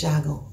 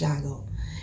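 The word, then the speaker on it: Tiago: And Raphael, like, me, his real name is Shago. That's how you pronounce it. T-I-A-G-O. It's pronounced Shago.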